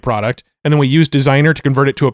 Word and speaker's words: Designrr: So designer is, how do you spell that, Matt? Well, it's design, but with an RR. So Yeah, DESIGNRR. Yeah. So no E at the end.